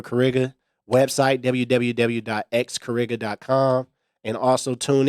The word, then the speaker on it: XCariga: The X is silent for Kariga.